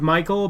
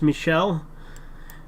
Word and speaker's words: Michel: read that already um Trudeau's brother was named Michael but my parents said it's pronounced Michelle but that's the girl version of Michael it's